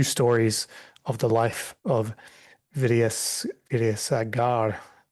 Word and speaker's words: Vidyasagar: And so Ramesh continues to outline two stories of the life of Vidyasagar, pronounced probably butchered that pronunciation, massacred the pronunciation, Priyank, but you can help out in mending that.